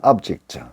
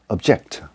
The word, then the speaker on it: object: 명사로 할 때는 object, 동사로 사용될 때는 object. 스트레스가 뒤에, 악센트가 뒤로 갑니다.